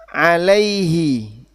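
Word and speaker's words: عَلَيْهِ: Nah, alaihi. Alaihi. Hahihu. Alaihi. Kenapa? Sebelumnya ya.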